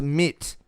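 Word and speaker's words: Meet: Yes, meat, pronounced mit, is...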